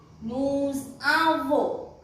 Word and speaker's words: nous avons: Nous avons. That means this S will be pronounced if it is followed by a vowel, and it will pronounce together.